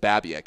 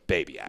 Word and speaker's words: Babiak: first met you I I pronounced it babc I think is how I said it but I so it took me a month to get your name right but it's babc yeah basically yeah I